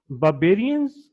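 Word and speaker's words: barbarians: बार्बेरियंस, बार्बेरियंस में फर्स्ट वाला जो आर है, ए के बाद जो आ रहा है, इसको प्रोनाउंस नहीं करना. बार्बेरियंस.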